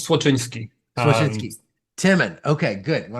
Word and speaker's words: Słoczyński: And last name is super close. It's Słoczyński.